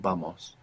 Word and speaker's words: vamos: like let's go vamos now this is spelled v a m o s and what you probably hear there is a b it really depends where you are in the southern cone around Argentina and Chile you hear a lot more the kind of pronunciation in many places generally in the Spanish-speaking world it's like a soft B so we want to